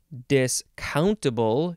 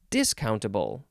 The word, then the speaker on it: discountable: to take Papa discountable discountable you can emphasize the second syllable or you can emphasize the first syllable which sounds like discountable adjective from eighteen hundred